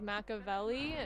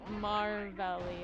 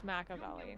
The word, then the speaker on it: Maveli: Your new name, by the way, according to USA is Maveli. Not Marlli. It's Maveli.